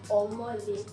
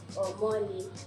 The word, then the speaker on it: Omole: So my name now, Omole. Now the ami on that name is going to be the way you pronounce it. Omole, re mi re.